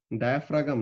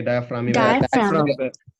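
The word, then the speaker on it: diaphragm: your lungs কি হয় যখন নাকি আমাদের এটার প্রোনাউন্সিয়েশন কি ডায়াফ্রাগাম নাকি কি বলে নাকি ডায়াফ্রাম ওকে সো তাহলে যখন নাকি ডায়াফ্রাম কন্ট্রাক্ট করবে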